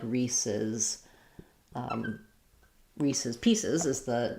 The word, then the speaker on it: Reese's: He has a question about Reese's.